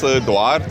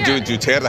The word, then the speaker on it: Duterte: They elect their own presidents, Duarte and... Duterte. I mean, Duterte, how to pronounce it? Duterte.